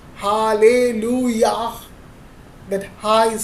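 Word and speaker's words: הללויה: that's why when I am when we से hallelujah that high is silent तो हम लोग यहां पर क्या देख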